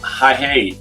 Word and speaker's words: Hahei: And we suggest that the first place you visit is Coromandel, especially the little beach of High, which is spelled Hahei.